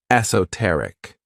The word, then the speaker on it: esoteric: favorite adjectives is esoteric this word has four syllables and the stress is on that third syllable esoteric when we describe something